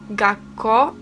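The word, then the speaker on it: 学校: kandzia po prostu słówko to słówko wymawia się Gaco i jest to szkoła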